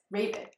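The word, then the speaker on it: Ravn: Yes, Raven.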